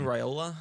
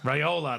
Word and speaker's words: Raiola: His name always escapes me the pronunciation. Dylan Raiola. Raiola, that's it.